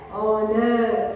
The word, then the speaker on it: honor: H is silent. O is being coming out of when we are pronouncing, O is coming, right? And we pronounce the word as honor.